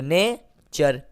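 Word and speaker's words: nature: ठीक है, तो नेचर, टी को हम क्या पढ़ रहे हैं?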